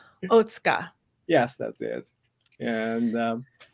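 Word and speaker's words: Otsuka: time today Dr OTA I was pronouncing your name incorrectly this entire time so I apologize for struggling yeah pronouncing you're pronouncing my name very good quite oh thank you thank you I'm I'm gonna try not to say it too often but it is OTA yes that's it and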